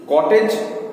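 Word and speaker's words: cottage: जैसे हम लोग देखा कि ट्वाइस में स है, थ्राइस में स है, लेकिन कॉटेज क, सी से स्टार्ट हो रहा है लेकिन क।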